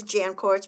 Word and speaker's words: Jancourt: My last name is Jancourt, pronounced like tennis courts.